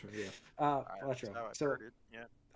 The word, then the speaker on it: Balatro: Did I pronounce that right? Yeah. Balatro.